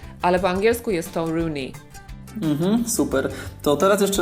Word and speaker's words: Rooney: wiemy że na przykład Wayne Rooney wymawia się właśnie Rooney tylko że po polsku